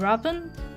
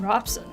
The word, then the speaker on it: Robson: And as always, I'm Robin. That's not my name. I'm Robson.